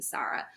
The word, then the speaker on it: Sara: I was like yeah my name is Sara and if they'll say Sarah I'm like oh it's actually pronounced Sara and like no questions